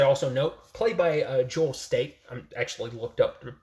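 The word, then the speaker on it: Staite: But it's pronounced like State. You just don't pronounce the I. It's silent.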